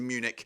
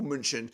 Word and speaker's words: München: It is Munich or München, as it's pronounced.